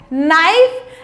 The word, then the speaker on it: knife: सो K for knife, and remember that K is silent.